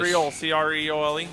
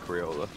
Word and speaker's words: Creole: Creole. He said Creola. Yeah, I did say Crayola. I did not pronounce it.